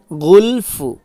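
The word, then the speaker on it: غُلْف: পড়ি কুলুবুনাফ কুলুবুনা কুলুবুনা গুলফ লাস্টে ফা উচ্চারণ হবে ফুন হবে না গুলফ বালানাহুমুল্লাহু বালানাহুমুল্লাহু বি কুফরিহিম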